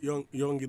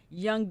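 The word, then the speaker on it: Yonge: How do you pronounce this, Doreen? Is it Young Dundas? Youngie Dundas. Is it Youngie or Young?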